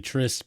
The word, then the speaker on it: tryst: Oft in yon sea-beat prison, the Lord and I held tryst. It's actually tryst, but they wanted it to rhyme with Christ.